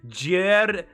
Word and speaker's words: joueur: While some expressions find obvious translations, like pro gamer becomes joueur professionnel. I'm just gonna go with what I pronounced.